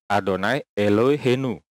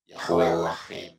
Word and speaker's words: Adonai Eloheinu: Ini bacanya adalah Adonai Eloheinu ya. Kita dengerin. Oke, Adonai Elohenu. Oke, kita sekarang dengerin versinya si Nandar. Yahweh Elohim, Yahweh Elohim, Yahweh Elohim, Yahweh Elohim. Oke, Nandar bilang Yahweh Lohim, Yahweh Lohim, Yahweh Lohim, ya.